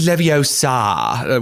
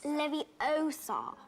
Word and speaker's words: Leviosa: It's Leviosa, whatever.